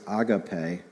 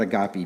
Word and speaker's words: agape: Warren Wearsby says that the word used for love is agapee. That's the right way to say it. All right? We're not agopy people here.